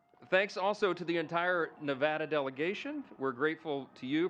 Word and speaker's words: Nevada: Um from my friends from Nevada, we are shaking. We're from Louisiana. Some people pronounce it Louisiana, so we always say Nevada and now it's supposed to be Nevada.